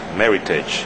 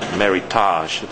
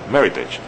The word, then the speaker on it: Meritage: uh and it's pronounced Meritage it rhymes with Heritage it's not Meritage like some people say so please say Meritage uh this is Aio